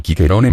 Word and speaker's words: Ciceronem: El nombre de Cicerón, Ciceronem, pronunciado Quiqueronem en latín clásico, tuvo suertes diversas en latín vulgar.